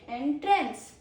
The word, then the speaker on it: entrance: Meet me at the main entrance. Okay. Then we have pronunciation two which is entrance. Entrance it is a verb because it has just some second syllable as you already know.